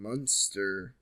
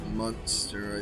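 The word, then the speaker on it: Münster: Oh, actually, I doubt it's actually pronounced Munster. I bet it's like Munster or something. Because, yeah, there's the 2 dots over the U, which is an OO sound. So try Munster.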